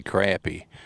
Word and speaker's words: crappie: And you know, us in the South we say crappie, but if it's spelled C-R-A-P-P-I-E, crap. Crappie would be C-R-O-P. So us Southerners, we're saying it right, aren't we, Anthony?